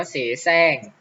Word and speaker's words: เสแสร้ง: อ่า สม นะ ครับ อย่า เสแสร้ง ก็ อ่าน ว่า เสแสร้ง จะ ไม่ อ่าน รอ เรือ ควบ เข้า ไป ด้วย